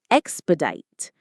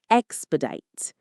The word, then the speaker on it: expedite: Expedite. The stress is on the first syllable. Expedite. Say it with me. Expedite.